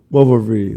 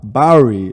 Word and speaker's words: Bowery: laughed at him because he was saying beaver v wovery like what are you talking about bowery you couldn't say it but uh anyway that's